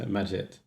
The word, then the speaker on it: Magit: be a chest huh do you pronounce maggot or magit for the uh for the uh the the uh the git extension thing um 440 max you don't use emacs to you the latter magit okay well it's very